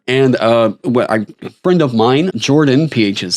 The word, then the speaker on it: Jorphdan: ago this is from Jordan the pH is silent so despite fulfilling Wizards